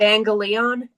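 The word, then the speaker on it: εὐαγγέλιον: Evangelion, Oh, evangelion, evangelion.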